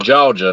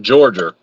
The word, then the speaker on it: Georgia: Fred commented on one of Jeff's posts the other day, and he said, remember when you get here that it's pronounced Georgia, not Georgia.